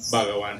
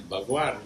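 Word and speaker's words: bhajan: And somebody will will will come out and correct them and tell them the word is not bawan is bhagan is good.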